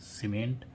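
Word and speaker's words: cement: तो जब सा क जब सी के साथ में ई हो तो सीई एन टी य आर वाय सेंचुरी सीई एन टीई आर सेंटर सीई एम ई एनटी सीमेंट ठीक है तो ई के साथ सी के साथ में ई हो तो उसे सा पढ़ते हैं और जी के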